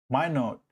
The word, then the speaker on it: Minot: Minot, my note.